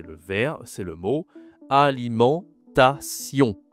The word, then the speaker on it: alimentation: C'est le mot alimentation. Attention, ici la prononciation. Tu as la nasale en aliment et il y a aussi le on y à la fin. en ion en on d'accord c'est deux nasales si tu as du